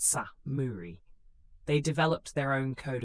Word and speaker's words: samurai: These warriors would come to be known as samurai pronounced sa muri.